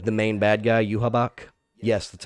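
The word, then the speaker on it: Yhwach: where I'm thinking like the main bad guy you habak yes that's how you pronounce his name yeah I hate his name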